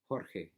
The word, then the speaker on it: Jorge: is where you know the letter J or what that sounds a lot like RH Jorge his sous one hope